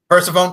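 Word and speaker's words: Persephone: That's how you pronounce it right. Is it Pone? Persafhone. Pphanie. Which one is it? We're persafhone.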